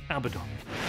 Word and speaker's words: Abaddon: It's Abaddon. You said it's Abaddon. No, that was you, bro. When you agree with me. Abaddon. You agree with me, bro. Said Abaddon. Abaddon. Abaddon.